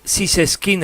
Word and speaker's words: Zyseskind: Estamos hablando con, eh, Sises Skin, así se pronuncia. Siskin. Sí, sí. Sin ningún acento. Sin ningún acento en alguna parte. Claro. En la E. Claro. Como en la E. Siseskin, escritor del libro Dios